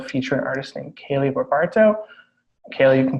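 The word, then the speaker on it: Kaylee Barbato: And today we are able to feature an artist named Kaylee Berbarto. Kaylee, you can pronounce that correctly for me if you can. Barbato.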